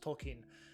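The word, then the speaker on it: Tolkien: viewers like understanding the depth of lore that tolken or it's actually pronounced tolken um wrote over the course of his life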